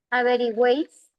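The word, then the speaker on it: averigüéis: Avery ya yo propondo por aquí averi, perdón, averigiways. La u suena, la e puede tener tilde, no hay problema.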